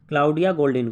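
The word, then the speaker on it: Claudia Goldin: किसको दिया गया है, ये दिया गया है क्लाउडिया गोल्डिन को। ठीक है, क्लाउडिया गोल्डिन, स्पेलिंग में बोल देता हूँ, CLAUDIA गोल्डिन, GOLDIN।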